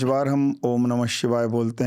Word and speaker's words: ओम नमः शिवाय: साथ में हमारे एक्टिवेट होती हैं जब हम ओम नमः शिवाय करते हैं। तो क्यों ना हम आज ये पॉडकास्ट रिकॉर्ड कर रहे हैं तो लोगों तक ये भी पहुंचाएं कि ओम नमः शिवाय का उच्चारण, सही उच्चारण क्या है।